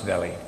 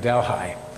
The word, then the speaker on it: Delhi: little spot which is known in canada as delhi because they don't pronounce delhi we we have dalhai and that's also rather